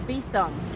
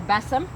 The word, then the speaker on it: besom: The besom symbolizes, or besom, symbolizes the goddess. I've heard it pronounced both ways.